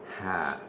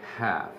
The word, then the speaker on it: half: is the premier is half you don't pronounce the L you say half and your Spanish you